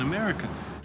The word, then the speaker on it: America: Le premier et dernier A se prononce E.